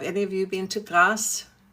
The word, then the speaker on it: Grasse: Have any of you been to Grasse? g r a s s e. The French pronounce it Grasse. Uh some Americans call it grass.